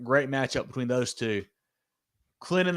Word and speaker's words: Clinton: Clinton the T is silent.